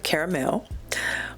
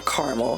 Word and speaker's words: caramel: And the top note is caramel, or caramel, however you want to say it. I say caramel because that's how it's spelled, caramel.